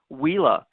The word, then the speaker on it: Uila: First, I want to correct the pronunciation. We are Uila. It's a Hawaiian word, means lightning in the cloud.